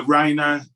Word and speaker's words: Rhiana: uh invite the next listener which is uh raina uh i apologize if i've not uh pronounced your name correctly that was perfect friends